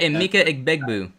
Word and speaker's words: Emeka Egbuka: Say it right, Emeka Egbuka.